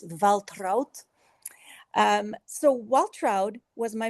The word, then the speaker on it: Waltraud: Well, in America we pronounce it Waltroud. In German it's Valtrout.